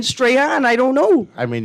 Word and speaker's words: Strahan: his name from Michael Strawn? Why you think he pronounced it like that? Does it? That's how. He never changed it. You know, that was just how he pronounced his name, believe it or not.